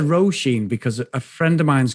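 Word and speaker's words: Róisín: It rhymes with Jolene. So Rosine? Is that how you say it? Yeah, I said Roisin because a friend of mine's got the same name and we pronounce it as Roisin.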